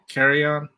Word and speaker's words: Kirion: And I always want to say his name, Karan, Carry Kirion, on, carry on. It's like, you know, when you go to the airport, you have carry on luggage. I think that's how you say it.